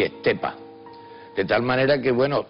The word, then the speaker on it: Estepa: Y, pero Estepe, ¿qué pueblo es? Parece un pueblo, yo qué sé, de Levante o algo de eso. No, eso es Estepa, pronunciado por muchísimos de los estepeños.